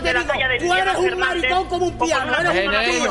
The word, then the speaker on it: maricón: Maricón. Con acento en la O.